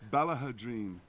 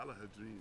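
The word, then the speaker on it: Ballaghaderreen: Next time I go to Ballahadreen, I'll find out. Yeah, take a look. Ballahadreen. Yeah. Ballahadreen. 4 syllables.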